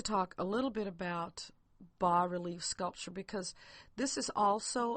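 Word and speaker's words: bas-relief: says b as s but it's pronounced bar relief and a b relief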